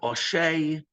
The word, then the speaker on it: Ashi: And then Rav Oshay, or as typically pronounced today, Rav Ashi, says, and he suggests that not that they would actually read them.